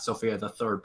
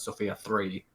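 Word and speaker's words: Sophia III: complicated because i think we're saying the name wrong for the tank it's not sophia the third but sophia three it's complicated it's the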